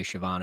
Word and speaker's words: Shavon: I've heard that his name is Shavon Revel. I'm going to say Shavon every time. I thought it was Shavon Revel.